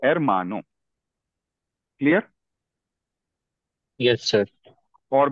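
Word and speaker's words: hermano: तो इसका जो नेचुरल स्ट्रेस है वो सेकंड लास्ट लेवल पे है। सेकंड लास्ट लेवल यहां पे मां है। तो एरमानो क्लियर।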